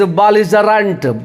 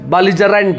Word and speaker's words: belligerent: चलिए आज का 8th वर्ड रहा, that is belligerent, belligerent, BELLIGERENT। देखिए ई का उल्टा अ, एल के ऊपर लकीर है, इसका मतलब एल पे जोड़ देना होगा, और डी और 3